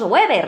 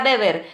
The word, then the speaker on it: Weber: la oposición lo llamamos Weber, ¿no? De website, de webinar, no. Weber, se pronuncia Weber, es alemán, a ver si aprendemos todos un poquito de alemán.